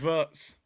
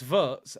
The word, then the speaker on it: Wirtz: W is pronounced V in Germany. See, the community, what's going on here? 2 of you have told me 2 different things. Anthony's saying it's Wirtz. Aeon's saying it's Wirtz.